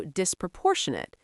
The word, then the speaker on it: disproportionate: Inquitable also disproportionate disproportionate stress on the third syllable.